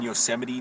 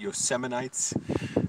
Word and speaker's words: Yosemite: virus on us um mispronouncing yosemite national park as yosemite yosemites and he can't pronounce like